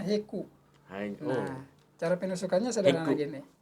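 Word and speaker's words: Hegu: ini lagi saraf Iya tulisannya h e h g ugu bacanya heku nah cara penusukannya sederhana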